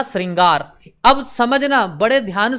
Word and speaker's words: श्रृंगार: अलग रहता है उच्चारण अलग रहता है इसका उच्चारण होगा श्रृंगार श्रृंगार ठीक है अब समझना इसको क्या पढ़ेंगे